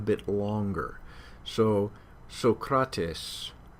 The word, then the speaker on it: Socrates: so protests so kratos you don't hear two s's any more than we do in a in a word like actress uh but what does happen is that that syllable gets held out a bit longer so socrates